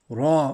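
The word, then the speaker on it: ر: like an o shape also ra whenever there's a fata over it raw also full mouth then this is different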